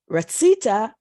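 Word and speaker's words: רצית: If it's pronounced ratzita, it means you male wanted, and if it's ratzit, it's you female.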